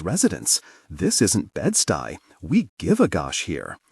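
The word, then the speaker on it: Bed-Stuy: This isn't Bedstey. We give a gosh here. We care. He pronounces it incorrectly. Bed Stewie.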